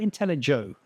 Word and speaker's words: Intellego: Is it a hard G or a soft G? I know it's Latin. Intellego, Intellego.